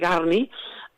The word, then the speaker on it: Gurney: Albert Ramsdell Gurney, o Garni, això ho dic per la pronúncia Gurney s'escriu, Gurney, però és Garni, va presentar l'obra a una editorial, i a l'editorial li van dir, no, aquí no publiquem teatre.